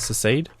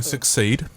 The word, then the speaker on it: secede: West Australia, our state, actually voted to I don't even know how to pronounce it. Secede? No, succeed.